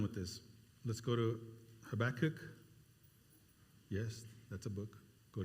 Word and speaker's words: Habakkuk: You got to do it more like Habakkuk. The H book.